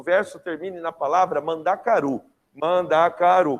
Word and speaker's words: mandacaru: Mandacaru, 4 sílabas, certo? O que você vai contar? Você vai contar até a última sílaba tônica. Qual que é a sílaba tônica? Mandacaru.